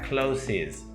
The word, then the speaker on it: closes: Close termina en E, pero a nivel de sonido termina en S, en un sonido S o Z, ¿vale? Tengo que añadirle esa sílaba más. Aunque yo por escrito solo le añado una S, la pronunciación sí que va a variar. Entonces sería closes, closes.